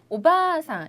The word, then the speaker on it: おばあさん: 하지만 여기에서는 오바상 이렇게 긴 발음이기 때문에 네, 그렇죠? 오바상이 아니라 오바상은 할머니고요.